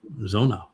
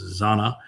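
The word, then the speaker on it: זונה: And then he goes on to say that she is Zona. Sometimes it's pronounced Zana. Zona is the more common Hebrew pronunciation now. The older version would be Zana, same 3 letters.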